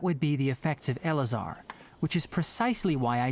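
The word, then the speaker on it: Eleazar: with a disease called elazar you say it just like it's spelled yes it's a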